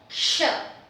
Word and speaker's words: क्ष: And this gives me the character ksha, ksha, because this is the combination of k and sh.